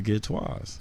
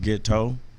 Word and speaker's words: Ghetteaux: Yeah, they have an Instagram page at The Did you Ghetteaux. spell it out? I spell it, okay. The way it's spelled is really pronounced Ghetteaux, but I call it Ghetteaux. Because it's kind of bougie.